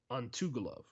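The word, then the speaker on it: Antigulov: His name is Gatumurad Antugulov.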